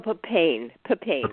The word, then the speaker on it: papain: Bromelain, and then later on I heard about the papaya, which is papain, I want to say. Oh, papain. Yes. Papain. My pronunciation was off, but I'm understanding that there are several different kinds of enzymes.